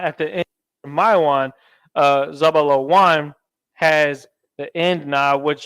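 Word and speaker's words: זבולן: And when you pronounce Zebulon in the ancient Hebrew, it's pronounced Zabalawan. Za, where's Za? Za, Ba, La, and then you have your Wa, and then you have your end letter Na.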